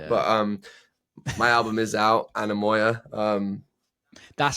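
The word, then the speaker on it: Anemoia: There's a lot of therapy going on here as well of shared trauma, but my album is out, Anamoya.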